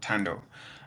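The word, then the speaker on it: Thando: It's spelled TH, the end sign O. So Tando.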